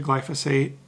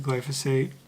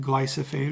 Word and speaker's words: glyphosate: the nursery you'll get the glyphosate I think I'm saying that right glad to say it I always want to say it wrong like glycer fade or something or I think it's glyphosate I don't know I